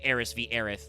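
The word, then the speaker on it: Aerith: uh localization which is Aerys vith. Like some people are still dieards, but it's become very clear that her name is just Earth with some extra syllables cuz it's Japanese. So it's Earth.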